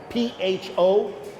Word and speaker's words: pho: Have you seen those Asian restaurants that have P-H-O pronounced? That's right, pho.